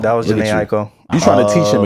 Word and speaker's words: Jhené Aiko: Jhené Aiko. Jhené Aiko. That was Jhené Aiko.